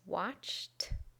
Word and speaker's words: watched: we have watch we add IDI and the pronunciation is watched watched watched miss becomes missed missed missed and